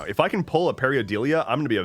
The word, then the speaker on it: pareidolia: If I can pull a Periodelia, I'm going to be a very happy boy.